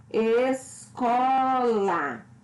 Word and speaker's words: escola: Escola. Ou seja, pronuncio com mais intensidade a sílaba có, que é a penúltima sílaba.